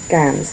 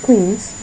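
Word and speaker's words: quinze: Ganss, not queens, cans. Like cans of juice or cans.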